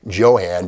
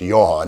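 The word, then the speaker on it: Jo-Han: but by 1954 55 johann became the name and it's not pronounced johan it's johan anyway without further ado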